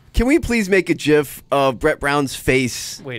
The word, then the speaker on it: GIF: look it up the guy who invented the jiff came out and said yes he said the correct pronunciation is ji f I'm just over now